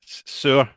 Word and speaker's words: Saor: So, how to pronounce the band name? Is it? I want to say Saor, but it's just like It, I can't get my head around it. it's Cradle of Filth. No, it's Saor.